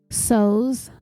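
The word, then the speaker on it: Sohus: named Dee Soos, and her last name is spelled S-O-H-U-S, Soos, I think it's pronounced, who happened to have a vacant guest house behind her main home, which was a mansion.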